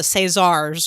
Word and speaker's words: César: But the Caesars or the Césars or the help me out. You can pronounce French things. César, yeah, that's.